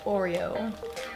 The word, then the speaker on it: Oreo: Abbiamo Golden Oreo, in inglese si pronuncia Oreo, Cool Mint Oreo, peanut butter Oreo, strawberry cheesecake.